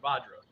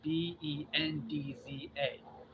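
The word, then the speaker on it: वज्र: Vajra is spelled Vajra, but if you go to other groups, it's Bendza. And neither one is wrong, both are right.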